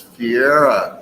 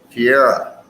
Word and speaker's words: Fiera: That was the artist known as Fiera, is the way she told me we pronounce it. That is, we know her as Thief Mooney. Fiera, the artist known as Fiera.